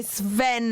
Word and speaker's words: Sven: oh cheers yeah Sven you say Sven not swen Sven Sven got so did